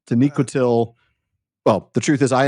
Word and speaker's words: Taniquetil: I mean, first season of the Prancing Pony podcast, I kept going with that Aztec pronunciation, Taniquetl, thanks to Martin Shaw, I think. But no, Taniquetil.